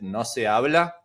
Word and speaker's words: No Se Habla: Is it no se habla? That's the way you're pronouncing it?